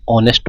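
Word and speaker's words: honest: एच ओ एन ई एस टी ऑनेस्ट पढ़ेंगे इसको। एच यहां पे साइलेंट है।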